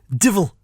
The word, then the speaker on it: devil: Or as we sometimes pronounce devil in the northeast, divil. Divil.